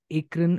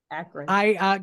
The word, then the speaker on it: Akron: No, in fact, to that end, it reminded me of a very interesting project called Sounds of Akron, or Sounds in Akron, which was basically a